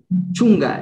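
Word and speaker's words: chunka: Chunga, eso. Muy bien. A la K se le pronuncia como una G.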